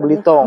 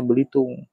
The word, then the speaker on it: Belitung: Tapi orang di pulau ini tidak pernah sekalipun menyebut pulaunya Belitung. Belitung. Tapi Belitong. Iya. Lebih familiarnya Belitong. Iya. Tapi orang-orang luar sering bilangnya Belitung.